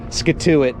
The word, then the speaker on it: Scituate: got it yeah and it's spelled s-c-i-t-u okay yeah skatuit basically is you thank the native